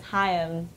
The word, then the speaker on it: Haim: Hey, how you pronounce our last name is hi-um. Two syllables. There you go.